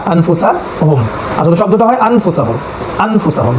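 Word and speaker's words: أنفسهم: হরফ হিসেবে ফা এসেছে এই কারণে আমরা এটাকে আন না পড়ে আন পড়বো আন ঠিক উনি স্বরের মত উচ্চারণ করবো নুনটাকে গোপন করে ফেলবো ঠিক আছে তাহলে আনফুসেহুম আনফুসেহুম এবং এক সেকেন্ড সময়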